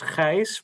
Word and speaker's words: Gijs: Yeah, in Dutch it's Gijs, but it's often a bit difficult to pronounce.